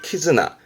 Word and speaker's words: 絆: 혼자 두면서 뜻으로는 발음을 키즈나 키즈납니다.